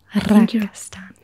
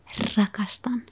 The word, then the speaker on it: rakastan: I feel like I could very loudly roll my R's, but to do a quiet roll of the R's is the hard part. Let's try it again together. Rakastan. Rakastan.